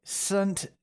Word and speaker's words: SVNT: Because they pronounce that as a U.